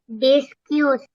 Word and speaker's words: discussed: Discussed. What's that? Discussed. Okay, how do you spell that? Discussed. Discussed. Yeah? Okay, discussed. Discussed. That E at the second last E is not pronounced.